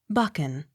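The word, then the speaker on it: Buchan: c h a n buckin accent on first syllable b u r d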